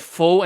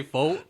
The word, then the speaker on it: pho: I think with faux and pho, it's a really big thing where it's socially. I think most people will say faux.